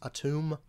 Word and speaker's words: Atum: It's technically pronounced atum, but I just pronounce it atom.